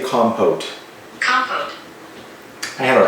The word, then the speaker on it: compote: Strawberry compote. How do you say compote?